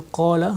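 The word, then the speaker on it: قال: Vous allez remarquer que dans qala, nous avons harf mad alif, et on va prolonger cette prononciation, on va dire qala.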